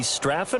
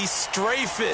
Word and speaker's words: Strafen: It was held in mid-December, and your winner, I.B. Straffen, or is it I.B. Strafen? You've got the pronunciation guy. I.B. Strafen. Strafen. My bad, Mr.